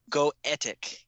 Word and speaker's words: Goetic: How do you pronounce that? What did you say? Goetic demons.